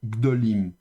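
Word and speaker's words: גדולים: Donc la tonique c'est la dernière syllabe lim. La prétonique c'est do et donc la lente est prétonique c'est bien ga et donc le ga ici va se réduire en cheval. Donc gdolim.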